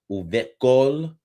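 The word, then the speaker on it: וּבְכֹל: We have our inseparable bait preposition here with the shell underneath the bait, and it's an open, no dagesh. So it's normally pronounced the va uvekol, right?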